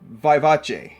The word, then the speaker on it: Vivace: I've heard so many different pronunciations, and Google says it's Vivace.